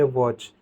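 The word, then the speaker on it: watch: एच साथ में हो, यानी कि टी सी एच कभी भी एंड में दिया हो तो टी हमेशा क्या हो जाता है, साइलेंट हो जाता है। यानी कि उस केस में हम टी को प्रोनाउंस नहीं करते।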